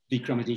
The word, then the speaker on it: Vikramaditya: I hope I pronounced it correctly, Vikramaditya.